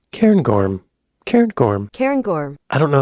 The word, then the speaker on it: Cairngorm: Cairngorms.